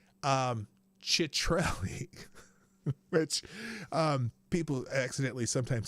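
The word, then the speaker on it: Ciattarelli: Okay, so his name is pronounced Citrelli. Which people accidentally sometimes say Shitrelli, but it's Chitrelli.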